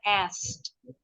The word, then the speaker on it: asked: tiga huruf konsonan sekaligus jadi caranya mereka ngebuang huruf konsonan yang di tengah jadi ask nih tulisannya bacanya asked ask I asked my neighbor